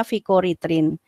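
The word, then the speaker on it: fikoeritrin: yang dikenal apa vikoritrin tulisannya vicoeritin kayak gitu bacanya fkoritrin kemudian berikutnya alga keemasan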